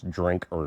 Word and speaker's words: Drinkard: His passion is saltwater trout fishing, and his name's David Drinkard, and it's spelled just like it sounds, Drinkard.